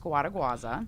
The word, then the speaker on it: Scuoteguazza: Um, my last name is pronounced squaduaza.